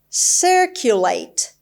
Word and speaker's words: circulate: person to person past the stress is on the first syllable and it's a verb